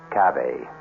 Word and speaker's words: cave: I equate cave with the Latin word spelled the same way c-a-v-e but pronounced Cafe it means beware our